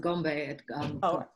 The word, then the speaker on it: Gombe: And I don't know who, I didn't catch who raised the, it's pronounced Gombe.